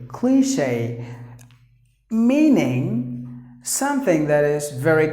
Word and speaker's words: cliché: Cliche. Long sound. Cliche. Cliche.